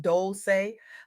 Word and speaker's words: Dolce: When love gets labeled a liability, welcome to the Soft Girl Era podcast, pronounced Dolce, like sweet softness whispered in French.